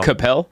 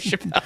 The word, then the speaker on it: Chappelle: very good time uh are you talking about uh Dave Capel no I'm talking about Dave Chappelle Dave Chappelle he mispronounced his last name for some reason um